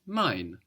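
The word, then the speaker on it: mein: spelled EI i n we know this EI gives us the I sound and mine is spelled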